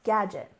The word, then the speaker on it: gadget: and next we have Gadget we stressed the first syllable gadget gadget this is a bit